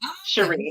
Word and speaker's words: Sheree: Is it Sheree? Because I like to roll my R's. Sheree. You know what? I'll take it. It's French. It's pronounced Sher and then Ree. So Sheree. Sheree.